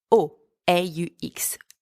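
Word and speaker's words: aux: place is plural use o a x o the x is silent at the End by the way for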